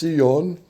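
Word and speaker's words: Sillon: S I l L O N pronounced seon.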